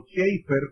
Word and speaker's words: Chafer: De hecho, Lewis Sperry Chafer, o Schaeffer, como se debe pronunciar en inglés, que es uno de